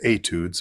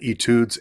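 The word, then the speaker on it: études: ukulele etudes and um I know the French pronunciation is etudes but however you want to say it etudes etudes whatever works for you but um the first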